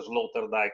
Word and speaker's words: Sloterdijk: Si pronuncia Sloterdijk anche se si scrive, perché non è un tedesco, non di origine tedesca.